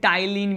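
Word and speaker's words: ptyalin: क्या कहते हैं, इसे टाइलिन भी कहते हैं। क्या कहते हैं इसे टाइलिन भी कहते हैं। और ये टाइलिन में पी साइलेंट है।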